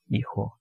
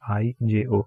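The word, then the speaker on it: hijo: son is a ho e ho jo e ho so again the pronunciation of this is going to be I Jae ho H is silent e KO and for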